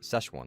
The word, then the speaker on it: Szechuan: I always want to try that Szechuan Szechuan Szechuan. Szechuan. Szechuan, that's how it's pronounced.